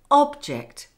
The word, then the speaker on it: object: For example, as you've already seen, the noun object can be pronounced with stress on the first syllable, meaning a thing.